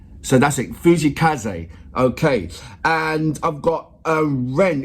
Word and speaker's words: 藤井風: He goes, his name is pronounced Fujii Kaze. So that's it, Fujii Kaze.